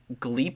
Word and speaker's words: Glepp: And then Gleep is spelled Glepp. Spelled Glep. That's crazy.